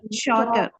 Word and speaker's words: shorter: Shorter. We don't say shorter nahi bolenge, okay? One R is silent, okay?